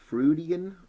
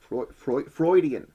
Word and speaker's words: Freudian: mean due to some fruitian excuse that actually i pronounced that right freudian freudian excuse or other reason